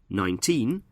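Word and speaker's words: nineteen: In 19, we stress the second syllable, teen, and in 90, we stress the first syllable, 9.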